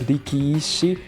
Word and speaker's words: Rikishi: Yeah, it's Rikishi. There's like two eyes in the middle because it's like Riki and Ishi. So it's like it's like Rikishi.